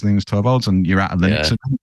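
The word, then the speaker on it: Linus: konel to V3 and lenus was there or lenus I should say because that's how he pronounces it um and I actually got to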